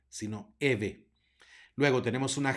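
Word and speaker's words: Evae: se dice Fili Fili luego tenemos una ae que se pronuncia e por lo es la palabra Eva se pronuncia Eve no ebae sino Eve luego tenemos una G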